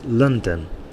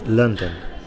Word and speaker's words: London: noun and likewise um to pronounce the capital city of england correctly it's london okay london there's a bigger stress at the end there london sorry at the beginning london but there's two stresses